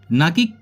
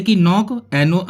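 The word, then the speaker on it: knock: जैसे कि नॉक, KNOC के नॉक बोलेंगे, ना कि किनॉक।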